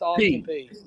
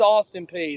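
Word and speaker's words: Austin Peay: I'm not for sure if it's pronounced Austin P. It's Austin P. Okay. Some people said Pay. I wasn't sure. No, it's Austin P.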